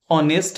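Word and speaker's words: honest: है ही is dash ऑनेस्ट मैन। ऑनेस्ट का देखेंगे यहां एच जो है साइलेंट है और एच साइलेंट है और इसका इनिशियल साउंड क्या होता है? ओ।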